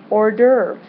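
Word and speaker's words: hors d'oeuvre: French word having to do with food it's pronounced urve now you've probably heard of an Ur but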